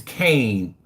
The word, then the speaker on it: Kanan: says hey my name my name's Kane Kane and is how you pronounce okay my name is Kane is how you pronounce pronounce it but how you spell it is Kanan okay cool TK right